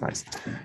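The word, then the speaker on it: gneiss: call it good nice but that's just pronounced nice so um again where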